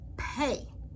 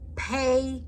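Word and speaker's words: פ: Pei. Pei also have two characters looking exactly the same. One is without a dot, pronounced like a F. as in fox. Pay with a dot, pronounced like a pear.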